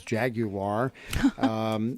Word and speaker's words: Jaguar: Jag you are Jaguar however you want to pronounce that I pronounce the Jaguar but the correct way is Jaguar is on display at